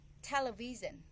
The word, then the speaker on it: television: Sy here the the the word television T aison the stress I I raiseed up my voice on the on the first syllable te television so the